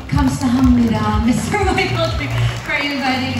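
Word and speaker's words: 감사합니다: Yes, let me say, kamsahamnida, Mr. Michael Kim, for inviting us all here today. Did I pronounce that correctly, sir?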